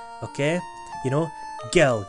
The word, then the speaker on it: Gil: sorry Gil is gel gel is spelled with a J okay you know gil g i l that's